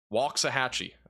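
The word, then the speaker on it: Waxahachie: really the best value walk sah hatchee how in the world is that pronunciation that just sounds so weird there's no l in it at all uh very low tornado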